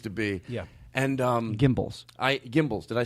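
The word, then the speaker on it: Gimbels: Gimbals.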